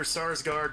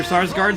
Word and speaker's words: Sarsgaard: a source card Peter Sarsgaard SARS guards who knew at S&L would be the thing to make sure you pronounce that name exactly right because otherwise you're going with still a large guard yeah well they're brothers